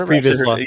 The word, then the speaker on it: Pre Vizsla: It is Pre Vizsla. Yeah, I couldn't remember back to Clone Wars how you pronounced it.